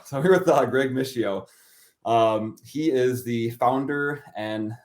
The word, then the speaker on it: Mischio: if you're in Italy, it's pronounced Mischio. Oh, there we go. I'm not in Yeah, Italy. I'm in Verona, Wisconsin. yeah. So Well, then your cheeseheads say Mischio.